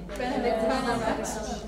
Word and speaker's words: Benedict Cumberbatch: But it's quite easy because you've got two stresses, Benedict Cumberbatch.